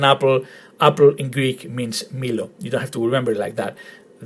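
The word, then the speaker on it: μήλο: So altogether, the word is Milo in Greek. Milo, with the emphasis on the first syllable. Milo.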